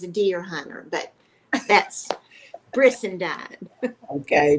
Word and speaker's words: Brissendine: Yes, Brissendine rhymes President. with Frankenstein, rhymes with sunshine, and I had a little boy tell me it rhymed with quarter hind.